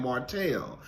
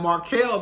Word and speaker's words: Markel: thought that I was saying the name correctly because I was saying Martell. And then she said, I've been saying Markel this whole time. And I was like, girl, well, maybe you actually been saying it right. And come to find out, she actually has, because in the opening credits, his name has Markel.